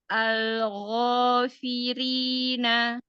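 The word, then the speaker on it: الغافرين: Ini gin bukan ko tapi gfirin. Algofirina. Naam. Tebalkan lagi. Gofi. Gfi alghofirina.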